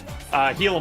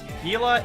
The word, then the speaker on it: Gila: Gila monster. It is a very venomous lizard. And Gila is spelt is said nothing like how it's spelled.